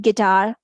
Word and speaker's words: guitar: In GU, we have gu vocal, U is silent. Guardian, guilty, guide, guitar, guard. This is the simple way